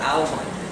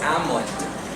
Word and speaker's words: almond: For example, almond is not almond, it's almond.